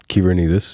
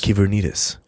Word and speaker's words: Kyvernitis: Well, if you can spell it, you can find, right? It's Kyvernitis. Kyvernitis.